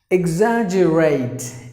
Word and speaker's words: exaggerate: here exaggerated it again the first Sun should be e like e exam 1 G is silent and the letter E is silence of exaggerate exaggerate that's how you have to pronounce meaning make making something